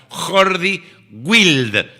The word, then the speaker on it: Jordi Wild: Está muy bueno contenido que ha se escribe Jordi Jordi que Jorge en catalán. Jordi wild con si escribieras wilde con W pero sin la final.